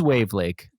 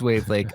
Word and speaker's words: Wavlake: to say it it's it's wave Lake yeah okay that's it's wav Lake um so it's de